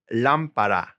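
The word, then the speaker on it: lámpara: have those el ventilator a lamp is la lampara gotta stress that first syllable got an accent right there the floor in general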